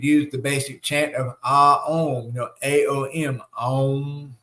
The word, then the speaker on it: Om: Also, you could use the basic chant of Om, A-O-M, Om, right? Because Om is really 3 syllables.